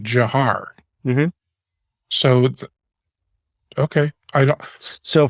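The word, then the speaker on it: Dzhokhar: um so you know yes it looks like you know d-z-h-o-k-h-a-r something like that but um but it's but it's actually jahar is how he pronounced it that is i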